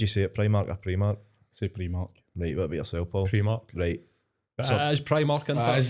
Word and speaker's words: Primark: you how do you see it play market Primark so pretty much great that's probably more confidence tell me was spell it out right it's the same as primary